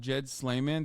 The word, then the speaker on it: Jad Sleiman: they they actually deleted his name is pronounced Jed slayman the arbitration agreement mandated